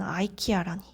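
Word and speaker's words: IKEA: 그런데 마그네슘이라고 읽는게 아니라 메그니시움 이렇게 읽는 거였어요. 콜라겐도 콜리젠, 이브로펜도 아이브로펜, 이케아는 아이키아라니.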